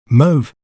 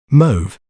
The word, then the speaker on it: mauve: Let's learn how to pronounce it correctly. Mauve. Mauve. Like you say someone to move, but with a touch of letter A in the start. Mauve.